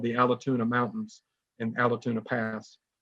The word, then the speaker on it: Allatoona: at what's called the Allatoona Mountains and Allatoona Pass. And us Georgians call it Altoona because Allatoona, that's too many syllables, to get out sometimes.